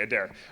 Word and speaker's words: Adair: the E is silent. Okay. Perfect. All right. And neat. And you're Adair? Yeah. Okay, Adair.